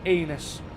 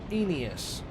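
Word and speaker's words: Aeneas: Daido and her anus. That's not how you pronounce that. Inas shall want troops and all the haunt be ours.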